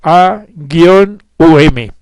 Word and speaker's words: Om: de siete sílabas Pues la primera sílaba es doble y debidamente pronunciada es a gu um y tiene esencia trina